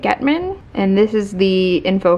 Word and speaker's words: Gechtman: This one is by Andy Gechtman, I think is how you say it, Gechtman.